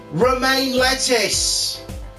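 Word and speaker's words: Romein LeTouse: Now I'm pronouncing it correctly, I just fucking got it. Romain lettuce!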